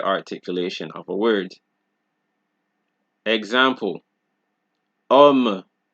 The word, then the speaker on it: homme: We don't pronounce it homme. We don't say histoire, hôpital. It is homme, histoire, hôpital, habitude, homme, histoire, hôpital, habitude. So if you guys notice, the songs are usually pronounced start from the vowel, because the sound of the H is deleted.